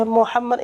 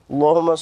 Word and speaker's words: Muhammad: kalau sholawat Wakwaw ia Muhammad itu tidak panjang Hai yeh Hai Muhammad sholli ala sayyidina muhammad Hahaha iya keliru itu jangan dipanjangkan enggak ada Alif tuh sebelum dalamnya jadi dipastikan bahwa dia Mohammad ya Allahumma sholli ala